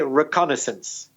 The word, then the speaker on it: reconnaissance: n AI SS ance I suppose the French probably said if I can they songs or something like that but we don't in English we say reconnaissance and it means getting